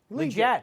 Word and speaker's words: Leggett: It's Leggett? Yeah, Legit. that's the I'm legit pretty sure way that of he was pronouncing it. Leggett. Not at U of I. It was always Leggett.